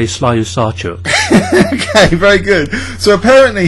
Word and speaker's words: Slyusarchuk: It's almost like Invenchuk, but Slyusarchuk. No, I would say Slyusarchuk.